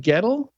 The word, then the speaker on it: Goettl: Sam it's great to be here I'm hoping Gettel is the right pronunciation yeah that's correct all right and uh